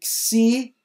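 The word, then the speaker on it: ξῖ: nosso n de nada o nosso xi é o x de táxi e não de xícara lixo tá xi é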